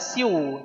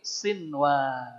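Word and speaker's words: صنوان: izhar mutlak jadi kinwan yang ini sinwan sinwan tidak Siu tapi sinwan ya masih ingat Doa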